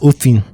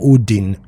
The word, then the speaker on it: Odin: want to tell that it's Othin? Like that D is pronounced in a TH way. Yeah. I know I'm not getting it right, but it's like Othin. Okay. Something like that. It's not Odin.